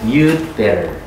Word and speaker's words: you'd better: you'd better. D는 발음 안 하면서 하시면 돼요. you, 근데 대신 길게 발음하셔야 돼요. you'd better. 이렇게.